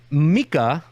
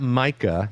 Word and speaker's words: Mika: in human history that Mika not Micah that's correct let's let's